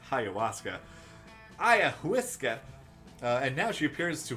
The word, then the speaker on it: ayahuasca: doing lots of them I like how long it took us to learn that this is pronounced ayahuasca and now she appears